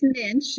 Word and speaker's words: Muench: have pronounce it it's Minch it rhymes with pinch so Minch I'm so glad see